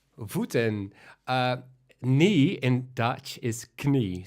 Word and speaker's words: knie: Knee in Dutch is knie. So we do pronounce the K. So the K is not silent in Dutch.